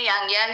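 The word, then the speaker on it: ylang-ylang: Hero ingredient इसमें यांग यांग है, इसे लैंग या लैंग भी कहते हैं, इसे यांग यांग भी कहते हैं, एल इसमें साइलेंट हो जाता है।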